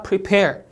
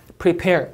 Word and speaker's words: prepare: prepare, prepare 이음절 강세, remain, remain 이음절 강세.